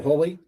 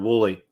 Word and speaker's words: Woolley: should be able to say that andrew andrew holy is that right did i mess it up i messed it up pronounced exactly outspelled wooly i was just overthinking it yep don't overthink